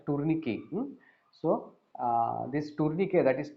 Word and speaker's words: tourniquet: we call it as tourniquet. The last T is silent, so you should call it as tourniquet.